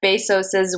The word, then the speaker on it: Bezos: Yes, and then I think my last one is meet the Ugandan feminists who hacked Jeff Bezos's wealth and redistributed the $168 billion in 7 days.